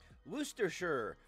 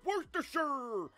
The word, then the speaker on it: Worcestershire: Worcestershire. What are you, fucking Swedish chef? Worcestershire.